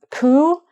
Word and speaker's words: coup: And um coup. So you can see there's a P on the end of that, but it's not coupe.